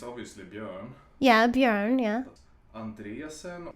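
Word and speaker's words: Björn Andresen: Andresen, we say Andre like Andrea. Bjorn Andresen.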